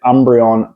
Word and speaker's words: Umbreon: say it right in a second with the Umbreon promo so this is stunning three pack blister